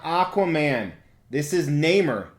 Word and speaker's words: Namor: And he pronounces it Namor. He's wrong. He is a comic book genius. He knows more about comics than I will ever forget. And he's wrong. It's Namor, not Namor. Well, this isn't even Namor.